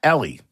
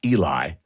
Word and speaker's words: Ely: Ellie. No, I'm doing this wrong. I'm going to say it's Eli, even though it's spelled E-L-Y.